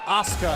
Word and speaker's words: Asuka: SCARED THE OH, BYRON, HER NAME IS PRONOUNCED ASUKA AND NOT ASUKA AND I HOPE SHE HEARS THAT AND KICKS YOU IN THE HEAD FOR GOOD MEASURE.